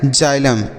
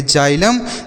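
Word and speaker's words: xylem: एम इसे हम पढ़ेंगे जाइलम जाइलम का अर्थ होता है बच्चों दारू क्या होता है दारू जाइलम तो इसे आप याद रखिएगा इसे हम जाइलम पढ़ेंगे यानी x को हम ज का उच्चारण करेंगे एक्स का ज उच्चारण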